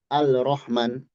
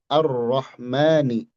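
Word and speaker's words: الرحمن: Kita tidak baca Al-Rahman, Al-Rahim, tapi Ar-Ro, Ar-Ro, langsung ke Ro. Nah, di sini dikatakan yuntoku biro'in musyaddadah. Diucapkan dengan ro bertasydid ba'da hamzatil wasli, setelah hamzah wasal. Ar-Ra, bukan Al-Ra.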